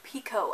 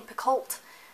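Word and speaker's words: Picoult: Time by Jody Pico that is right is pronounced Pico I've been calling saying piccolt like most of the month and then I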